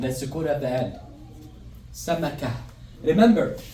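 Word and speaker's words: سمكة: So you're not gonna say samakat. It's gonna be samaka.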